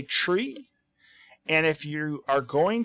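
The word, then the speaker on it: three: as I understand that that is the correct way to say the number 3 when you're talking over the community over with the FAA you say tree and if you are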